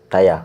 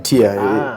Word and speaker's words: tier: Tire. I was team tire. Now I'm team tier.